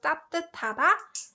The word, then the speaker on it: 따뜻하다: So this one is pronounced 따뜻하다, and this is an adjective that means warm, for something to be warm. And 비슷하다. This one also has that t sound, and this one means to be similar.